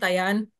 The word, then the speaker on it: Dian: they call me in Spanish my name is pronounced Dian um I don't know